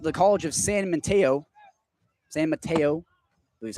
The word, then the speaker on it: San Mateo: San Mateo. I believe that's how you're supposed to pronounce it.